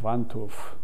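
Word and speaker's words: Wantuch: the other one was vantouf w-a-n-t-u-c-h in polish it's the w is pronounced with a v why'd your grandfather change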